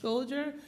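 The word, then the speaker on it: Shkodër: the high mountains just north of the city pronounced scholder or scholder as it's written here but most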